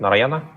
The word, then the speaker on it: Narayana: Now, I just have to know that Rishit is still a student of Narayana School. Am I pronouncing it right? Narayana? Yeah, that's right.